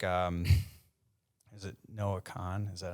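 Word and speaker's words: Noah Kahan: I mean, there's some newer artists like, is it Noah Khan?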